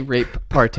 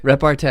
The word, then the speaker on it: repartee: Don't say rape party. It's not a rape party. Why are you saying it's so weird? How do you pronounce it? Repartee? Repartee. Repartee. Not rape party.